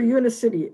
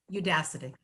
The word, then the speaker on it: Udacity: And she has fashioned a series of coaching videos for Unicity. Am I pronouncing that right, Andrea? Udacity.